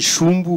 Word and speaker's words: Jumbo: les sur les sièges tchumbo reste déjà je le prononce mal je sais mais c'est du Brésilien et est-ce que tu peux nous le traduire oui alors en portugais on dit shumbu mais bon dichumbo c'est pas grave et je